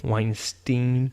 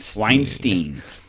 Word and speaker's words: Weinstein: and that is Harvey Weinstein is how you pronounce that Weinstein Weinstein yes wine Weinstein Harvey Weinstein he is the founder of Miramax